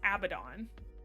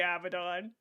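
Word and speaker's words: Abaddon: Oh, I've always heard the biblical figure said as Abbidon, you know, like the I mean, some people are saying Abdon. It's actually Abdon.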